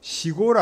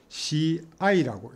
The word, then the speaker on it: 試合: 고바, 시압도 시고를 안 하고 시아이라고 읽습니다.